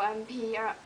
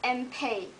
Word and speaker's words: Enpei: They always pronounce like Enpei or MP or. It's Enpei, E-N-P-E-I, Enpei.